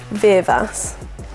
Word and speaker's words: Virvas: We go back to the Welland days, and I've never heard anyone say her surname right. This is how it's pronounced. Virvas. Virvas.